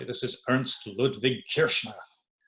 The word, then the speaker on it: Kirchner: linoleum this is really done my best to pronounce these names correctly this is Ernst Ludvig Kirchner Kirchner you may have heard all this a landscape